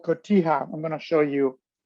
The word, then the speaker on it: cotija: It's called cotija. I'm going to show you how it's spelled.